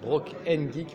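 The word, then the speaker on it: Brocant'Geek: Alors je dis Broken Geek, ça s'écrit, j'ai pris le début de brocante en fait. Donc c'est brocant apostrophe geek.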